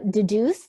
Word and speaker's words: Dedoose: Yeah, no, it's Deduce. It's spelled DEDOOSE.